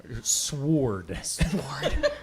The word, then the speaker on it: Sword: Sword. The W is silent.